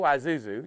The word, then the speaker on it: Isuzu: I is separate right I mean the I is silent well it's gone it's